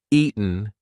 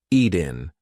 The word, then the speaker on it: eaten: That T is followed by a weak N sound. So we are not going to say eaten. We're going to say eaten. Eaten. Now listen. If I don't use the glottle stop, if I don't say any kind of t pronunciation, Ian, that does not work. It's eaten.